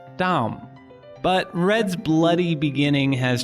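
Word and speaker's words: דם: adom while blood looks like this and it's pronounced dom but red's bloody beginning has transformed over millennia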